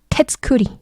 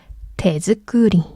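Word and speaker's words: 手作り: 그래서 테츠크리 발음 힘드니까 테즈크리.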